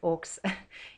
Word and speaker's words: aux: And note that it's spelled aux, but you don't pronounce it or it's o. And it sounds just the same as au.